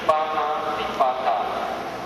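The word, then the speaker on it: pāṇātipāta: So you should pronounce correctly. Panatipata, Abhidhamma dana, kami, sumecha jara.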